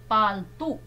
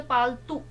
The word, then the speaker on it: पालतू: है इसमें इसी तरह पालतू अब हमने छोटा उच्चारण किया ना उ का तो जल्दी बोल दिया पालतू लेकिन होता क्या है सही शब्द पालतू बड़े उ की मात्रा ठीक है अगला है